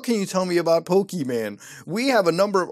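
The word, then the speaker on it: Pokémon: know the answer well they are called pokey man short for a pocket monster and pronounced pokemons and they have stirred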